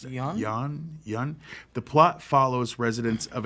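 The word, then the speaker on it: Yeun: How do you pronounce it? Yun.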